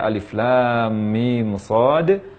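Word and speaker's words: المص: Cara membacanya sama dengan membaca permulaan surah Al-Baqarah. Namun di akhir setelah mim ada huruf shad. Karena huruf shad ini berakhiran dengan huruf dal, maka huruf dal dikolkolahkan.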